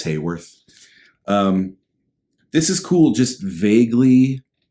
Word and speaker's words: Haworth: I always thought it was Haworth because of the way it's spelled, but I heard him say it the other day. It's Hayworth.